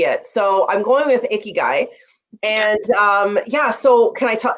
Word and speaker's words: ikigai: So I'm going with Ikigai.